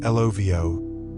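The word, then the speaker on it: lovo: The Lavo, pronounced Lovio, is Fiji's traditional earth oven.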